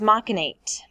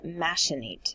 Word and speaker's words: machinate: Our next word is machinate. This word can also be pronounced as machinate. So machinate or machinate.